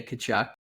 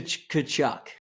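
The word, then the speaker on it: Tkachuk: haven't what my dad when he pronounces the kachuck brothers he always pronounces the T and you're not supposed to and it's the funniest thing what does he say to kachuck wow you know those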